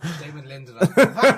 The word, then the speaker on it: Damon Lindelof: Say Damon Lindelof. Damon Lindelof. Damn it! That's actually the correct pronunciation of his name.